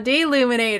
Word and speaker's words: Deluminator: deluminator there we go deluminator that's right it's not the illuminator d luminate things that turns thing